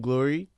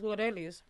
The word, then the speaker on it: Glorelys: And so then, is your real name Glory? It's Glorelys.